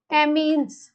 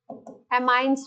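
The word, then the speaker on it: amines: चलो भाई, एमीन्स, एमाइंस भी बोलते हैं, एमीन्स एमाइंस एक ही बात है, प्रोनाउंसिएशन।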